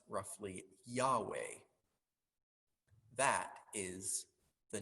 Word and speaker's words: Yahweh: bible it is a set of four consonants pronounced roughly yahweh that is the name of god why is